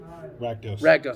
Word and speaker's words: Rakdos: Got Rakdos. I can never pronounce the die. Keep want to call him Radicos for some odd reason.